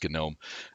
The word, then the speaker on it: GNOME: GNOME, and yes, but that is how you pronounce it. It is GNOME.